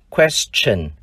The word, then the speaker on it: question: Chữ T đọc là âm ch. Tương tự trong danh từ tương lai, future. Trong danh từ câu hỏi, question.